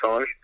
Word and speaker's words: singe: It's, originally it was French, so it's Le Planète du Singe. So it's actually pronounced Singe, not Singe.